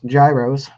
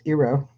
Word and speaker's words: gyros: We had, as some people mispronounce, gyros. The actual correct pronunciation is Eero.